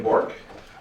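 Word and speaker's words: Bourque: State your name for the record and spell it first and last name, please. It's Borc.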